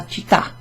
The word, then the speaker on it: città: And you just put a stress emphasis on that last syllable, la città. So it's not a long vowel sound.